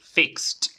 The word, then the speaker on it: fixed: f en este caso la forma pasada estamos terminando en t fixed fixed Okay vamos con